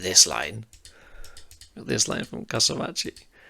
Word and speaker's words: Kasamachi: Do I keep saying his name wrong? I need to burn his Kasamachi, not Kasamichi.